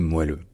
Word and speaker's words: moelleux: au 15e 16e siècle le mot se prononçait moelleux donc ce qui explique l'orthographe puisque le E était prononcé e ou e donc le moelleux correspondait